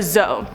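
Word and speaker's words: dzo: On to number 4, a Zo. This is spelled D-Z-O or D-Z-O.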